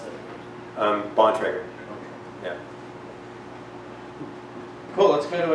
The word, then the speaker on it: Bontrager: How do you pronounce it? Bontrager.